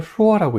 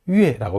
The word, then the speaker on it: 说: 여기서는 슈어라고 읽지 않아요. 여기서는 유에라고 발음합니다.